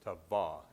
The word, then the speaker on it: Tava: knew that mountain as tawa t-a-v-a in the Ute language the pronunciation is on the second syllable so it's taba is how it be